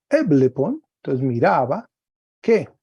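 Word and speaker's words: ἔβλεπον: Entonces viene una frase, dice así, el verbo ver eblepon, un espíritu suave y un acento agudo ahí en la misma sílaba, eblepon, entonces miraba, ¿qué?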